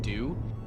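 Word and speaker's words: Doux: I know it if it's if it's following uh pronunciation is because we have a brand called do and it's spelled D O U X.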